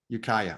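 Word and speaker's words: Ukiah: brian or steve who wants to throw a pronunciation of is it yukai ukaya ukaya okay i always get that wrong so it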